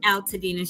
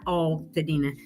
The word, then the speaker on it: Altadena: and it's alina not allina. So she said you need to go ahead and make a song about that. It's out to dinner. Not all.